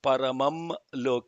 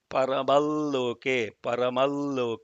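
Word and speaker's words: परमं लोके: So even though it is paramam loke, the bindu is not pronounced because la is following it in loke. So it is paramal loke.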